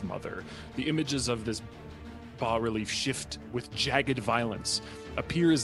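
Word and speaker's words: bas-relief: which i also read you can pronounce it bass reliefs it's a legitimate american pronunciation uh on the uh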